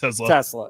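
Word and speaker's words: TeSlaa: Yeah, Tesla, like the car, right?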